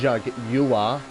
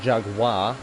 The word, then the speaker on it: Jaguar: Doesn't understand how to say Jaguar. It's Jaguar. How it's spelled. Jaguar. Not Jaguar.